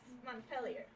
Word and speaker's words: Montpelier: Yes, Montpelier, Vermont. I'm sure natural-born Vermontans will fucking hate the way I pronounce that.